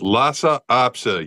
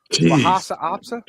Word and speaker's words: Lhasa Apso: It's Lhasa Apso. You. Lhasa Opsa. Lhasa Apso.